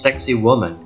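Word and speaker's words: Sacsayhuamán: above the city is the Incan Fortress pronounced sexy woman where 5,000 warriors were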